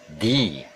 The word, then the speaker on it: the: biobama ya Hai by jadi the nya kita ucapkan dengan di ya untuk kata benda yang diucapkan huruf awalnya dengan power atau huruf vokal sekali lagi untuk yang